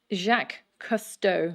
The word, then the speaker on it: Jacques Cousteau: it we just want to make sure to pronounce its name correctly jacques cousteau oh yes you know jack customer you create